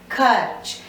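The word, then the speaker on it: खर्च: It is pronounced as Kharch. That means if you see a word like this, you know that this is R, half R, and it is pronounced before the vyanjan that it is written.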